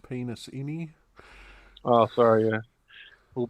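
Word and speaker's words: Penisini: Which I do believe from previous shows we've agreed it's pronounced penis-ini. Oh, sorry, yeah. Will Penasini, yeah.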